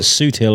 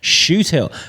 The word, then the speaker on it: Shoothill: I've been calling it Suithill all day, and then I was like, Shoothill. So that is now embedded in my brain because I was saying it wrong, and now I was kind of like, it's Shoothill.